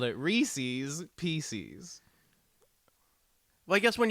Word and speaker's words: Reese's: would be Reeses right which rhymes with pieces as it's spelled the normal word you think that they called it Reese's Pieces well I guess